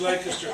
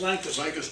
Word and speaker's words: Lancaster: Now, his was Lancaster, Pennsylvania. And I want to make sure, in Pennsylvania it's pronounced Lancaster. Lancaster here. It's Lancaster here. So it's a little bit like Concord and Concord.